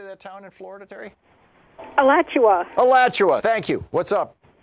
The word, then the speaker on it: Alachua: Alachua.